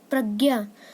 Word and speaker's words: प्रज्ञा: प्रज्ञा, अब ये जो ज्ञ होता है ये बनता है आधा ज प्लस न्य से, तो इसका जो शुद्ध उच्चारण होता है वो होता है ज, जिसे हम ज बोलते हैं, पर आजकल हम इसे ज्ञ भी बोल देते हैं।